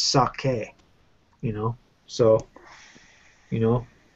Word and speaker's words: sake: know the same with saki you know a lot of people in America say saki but that's actually not a word in Japanese it's sake you know so you